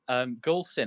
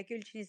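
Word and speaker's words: Gülçin: But yeah, Gulchin is the correct pronunciation.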